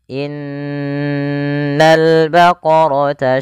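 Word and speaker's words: إن البقرة: Pada alif lam di sini lamnya ditampakkan dengan jelas. Ini bukan innaul baqara tapi langsung ke lam.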